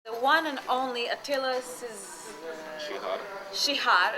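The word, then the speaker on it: Csihar: The pronunciation of C and S is ch. Ch. Yeah, so right way to say it's Shihar.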